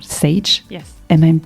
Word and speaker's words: Sage: So you have a VP Learning and Development of a major group called Sage. Yes. Am I pronouncing it right? Yes, Sage.